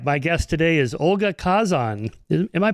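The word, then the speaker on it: Khazan: My guest today is Olga Kazan. Am I pronouncing that right? Kazan. I usually say Hzan. Hzan. Oh, okay. The the K is soft.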